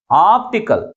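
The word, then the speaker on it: optical: ఉంచాలి next one ఇస్ ఆప్టికల్ దీనిలో ఎన్ని సిలబస్ ఉన్నాయి త్రీ సిలబస్ ఉన్నాయి ప్రైమరీ స్ట్రెస్ ని ఎక్కడ ఉంచాలి లాస్ట్ నుంచి థర్డ్ సిలబల్ ముందు ఉంచాలి ఈ పదం దేనితో ఎండ్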